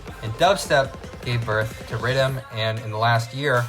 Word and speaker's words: riddim: of the same name riddim which is the jamaican pronunciation for the word rhythm to be clear what